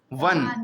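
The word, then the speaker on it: one: जैसे ओ एन ई, यहाँ पे ओन नहीं पढ़ लें, इसको क्या पढ़ लें? वन।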